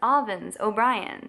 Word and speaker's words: Avens O'Brien: Hey guys, thanks for watching yet another video by Avens O'Brien. Again, that's Avens O'Brien. So now you can pronounce it correctly.